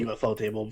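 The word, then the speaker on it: ufotable: See, is that how you say it, UFO Table? Because I've always called it UFO. I say UFO Table. Some people say Affordable. I don't know. Because the first time I ran into somebody that said UFO Table, they're like, "Oh yeah, no, I like the UFO Table version." And I'm like, "You mean UFO?"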